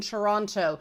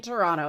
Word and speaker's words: Toronto: focused on enunciation that I pronounced the second T in Toronto.